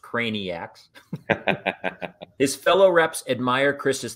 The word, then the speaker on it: Craniacs: good with customers manufacturers and his fellow craniacs pronounced craniacs his fellow reps admire chris's thoughtfulness and will